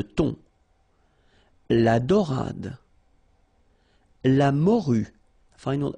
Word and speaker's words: thon: Remember, H here is not pronounced. Le thon.